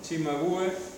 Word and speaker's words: Cimabue: Se llama Cimabue, pero la C en italiano se pronuncia Che, así que ¿cómo sería? Cimabue. Y el otro, el segundo pintor, ¿cómo se llama?